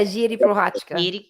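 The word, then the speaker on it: Jiří Procházka: It's spelled Jiri, but you pronounce the R like a D, kind of almost like the Portuguese thing, where it's like Jiri Prochazka.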